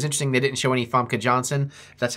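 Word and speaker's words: Famke Janssen: although it was interesting they didn't show any fomka Johnson that's how you say it in there at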